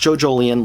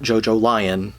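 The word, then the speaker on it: JoJolion: and it is pronounced joe jolian like evangelion not jojo lion like the lions um joe jolien is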